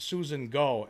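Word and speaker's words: Gough: Greyall again, Jimbo, it's pronounced Susan Go as in go away.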